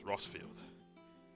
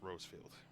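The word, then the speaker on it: Rosfield: I said Rosefield was Rossfield. My apologies, I pronounced his name wrong. It's Rossfield, not Rosefield.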